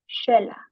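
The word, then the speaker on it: Xela: moving on to Guatemala the letter X is pronounced as a sh sound which usually connects to Mayan culture.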